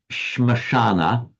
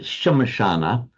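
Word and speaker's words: श्मशान: strictly in Sanskrit is Shmashana, but you pronounce it Shamashana.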